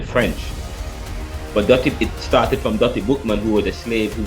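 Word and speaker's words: Dutty Boukman: But it started from Dottie Bookman, who was a slave who came to Jamaica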